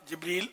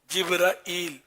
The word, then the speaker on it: جبریل: الامین سے مراد سیدنا جبریل علیہ السلام ہے۔ جبریل، جبرائیل، جبرائیل، اس کی تین مطلب یعنی تلفظ ہے۔ جبرائیل یعنی کبھی کنفیوژن